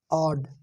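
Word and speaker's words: odd: हमारा वर्ड है दोस्तों आड आड आ ये ओड ना कह के इसे आड आड यानी कि ड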